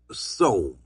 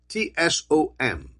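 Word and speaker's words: צום: Fasting, I want you to write this down, is the Hebrew word Tsom, T-S-O-M. The T is silent, okay? So fasting in Hebrew is T-S-O-M, Tsom, and it means to close the mouth, to close the mouth.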